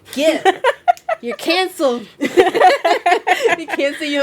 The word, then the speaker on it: GIF: He said it's pronounced GIF.